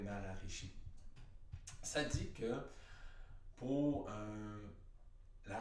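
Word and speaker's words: Maharishi: 70 il y a ça s'appelle l'effet maraîchers mais la prononciation c'est ça c'est l'effet mais à la Richie ça dit que pour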